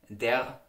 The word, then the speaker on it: die: The article for the feminine nouns, die, is widely pronounced like de.